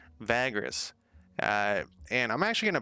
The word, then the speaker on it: Vagrus: realms today uh i keep calling it vargas and i keep having to crack myself i literally have to look at the at how it's spelled vagrants vagras uh and i'm actually